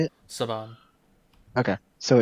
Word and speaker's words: Saban: this is Sabin. I don't know how to say it. How do you say it? Saban.